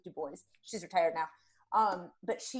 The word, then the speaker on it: Dubois: Her name was Ellen Dubois, spelled Dubois, but you're supposed to pronounce it Dubois.